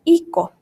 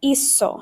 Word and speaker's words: hizo: it, it would say hico. Right? Well, that's not how we pronounce this word. It's hizo. It makes the S sound.